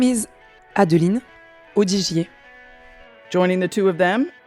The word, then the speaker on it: Adeline Audigier: how beautiful their names are when they are pronounced as they should be uh my name is Patricia Mish and my name is adelene odier joining the two of them is their teammate